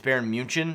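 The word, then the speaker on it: Bayern München: actually on draftkings it's baron munchen which is how they pronounce it uh in germany uh so don't get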